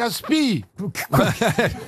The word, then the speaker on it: aspic: ASP ah oui alors on ne prononce pas le C qui est à la fin un aspi ou ASP si vous prononcez le C bonne réponse de Franck